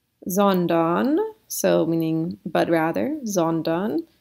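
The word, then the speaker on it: sondern: so meaning but rather zondan so the s the s is trying to trick you into thinking that it's an f but it's really an s okay next one this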